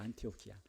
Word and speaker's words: 안티오키아: 안티오키아. 헬라어 그대로 발음하게 되면 이 안디옥이 안티오키아가 돼요.